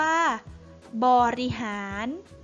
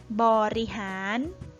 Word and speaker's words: บริหาร: ต่อ ไป คำ ว่า บริหาร บริหาร บริหาร นะ คะ คำ ว่า บริหาร เป็น คำ ไม่ ประวิสรรชนีย์ ก็ คือ ไม่ เขียน สระ อะ แต่ อ่าน ออก เสียง อะ กึ่ง เสียง นะ คะ แปล ว่า